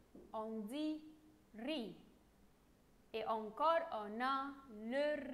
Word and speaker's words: riz: La lettre R avec I, on dit riz. Et encore, on a le riz. On mange le riz. Ici, je ne prononce pas le Z. Je dis seulement R, I, ri.